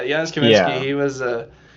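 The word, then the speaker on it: Janusz Kamiński: Like I really like all the cool dynamic camera movements that um is it Giannis Kaminsky? Is that how you say his name? Yeah, Jiannis Kaminsky.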